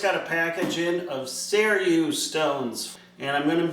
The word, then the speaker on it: Seiryu: Hey Google, how do you pronounce S-E-I-R-Y-U?